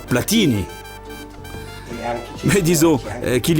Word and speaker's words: Platini: Chez nous, ce nom de famille se prononce Platini.